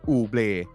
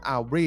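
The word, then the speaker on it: Aubrey: สาย ตา ไป เนี่ย ผม จะ อ่าน ว่า brandon อูบ แต่ ไม่ ใช่ ครับ เขา อ่าน ว่า brandon aly นะ ครับ เป็น ตัว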